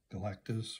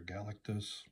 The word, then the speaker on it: Galactus: the first uh appearance of galatis or galatis heard it pronounced many ways over the years see this copyright 1965